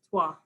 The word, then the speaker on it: trois: And that is how we pronounce it, is Trois. Trois, but you spell it quite interestingly.